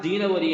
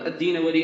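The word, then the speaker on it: الدینوری: എന്ന് വായിക്കാറുണ്ട് അള്ളാഹു ആലം അതിന്റെ ഏറ്റവും ശരിയായ ഉച്ചാരണം ദീനവരി എന്നാണ് ഇബ്നുൽ അക്കീർ അദ്ദേഹത്തിൻറെ അൻസാബ് എന്ന കിതാബിൽ ഈ വിഷയം സൂചിപ്പിക്കുന്നുണ്ട് അദ്ദീനവരി എന്നാണ് പറയുക അദ്ദേഹം അദ്ദേഹത്തിൻറെ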